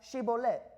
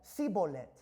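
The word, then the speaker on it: שיבולת: de Efraín, muy bien, di la palabra Shibolet. Pero ellos decían Sibolet, porque no podían pronunciar la palabra correctamente.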